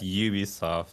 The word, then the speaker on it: Ubisoft: We'll say Ubisoft. In Japan, it's UBI Soft for some reason. Like Really? that's how they pronounce it.